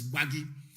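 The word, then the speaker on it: Gbagyi: they call them gwari it is not worry it is bhagi that is the correct pronunciation because in arusa intonation they cannot pronounce bhagi that was why they named it worry it is not worry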